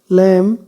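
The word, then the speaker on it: lamb: लैम, लैम में B silent है।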